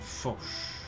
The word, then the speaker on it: Foch: It's pronounced Foch? Yeah, Ferdinand Foch.